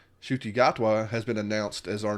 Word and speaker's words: Gatwa: Gotwa. Shuty Gatwa has been announced as our new doctor, which is very very very very exciting.